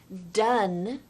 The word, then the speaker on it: done: Henry, the phonetic sounding of this word is done. It sounds like, if I put it right here in the bottom left-hand corner, D-U-N, with like a short U.